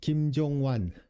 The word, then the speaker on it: 김종완: I'm back home with Shuchita, episode 19, Suga with Kim Jong-wan. That's how you pronounce his name.